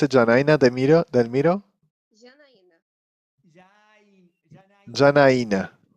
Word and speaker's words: Janaina: Janaina. Janaina is the pronunciation.